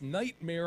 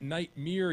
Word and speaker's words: Nightmare: ease asan pronouncing words it's Nightmare on Elm Street not night mere you